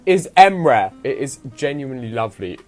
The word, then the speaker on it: Emre: just like it's just if you want to pronounce it it would be nice if you could say emre but which one does feel like you like